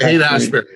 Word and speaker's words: Haight-Ashbury: Haight-Ashbury.